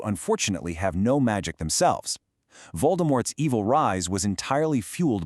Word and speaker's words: Voldemort: If you want to pronounce his name exactly as the author intended, the T at the very end is actually silent. It's Voldemort.